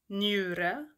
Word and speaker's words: njure: La pronunciación ñ no es muy común en sueco, pero existe también. Se encuentra en palabras, se escriben con njure, njure, riñón.